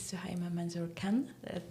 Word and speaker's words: Suhaiymah Manzoor-Khan: This is Suima Manzor Khan. Did I pronounce it right?